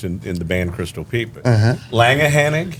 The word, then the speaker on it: Langehenning: Langehenning? Langehenning. Or Langhennig. Langhennig. Yeah. But a lot of people around here just say Langhenny. Yeah. Like Langhenny.